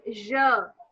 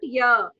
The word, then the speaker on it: je: This is je, not ya. Yeah. It's not ya.